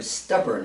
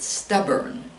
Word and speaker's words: stubborn: be pretty headstrong or stubborn is the word and we pronounce it stubborn stubborn put the emphasis on the first the first syllable stubborn someone who is